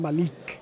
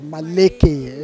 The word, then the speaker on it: Maleke: We used to call him Malik. You know, yeah. So because we didn't know that the actual pronunciation was Maleke, you know, so the